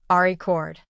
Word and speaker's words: record: He learned to place the stress on the first syllable and say it clearly and confidently. Ari cord.